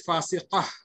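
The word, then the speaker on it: فاسقة: So when we are stopping, we can say it as fasiqah.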